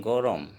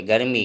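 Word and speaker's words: গৰম: bracket में अकेले थार गर्मी गर्मी को समम कहेंगे गोरम उच्चारण भी गोरम लाल अक्षर में बारिश बारिश को समम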